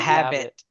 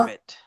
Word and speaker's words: Hobbit: Hey, how'd you spell Hobbit? HAB Tell him what he has HAB to do there, Phil. I Get his Hobbit, dictionary there. Hobbit. not IT. habit, Oh, not not habit. Huh? Hobbit, Hobbit, not Oh, habit.